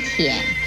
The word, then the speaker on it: 腆: 舔字的国语注音是 t 言舔三声舔，舔三声舔。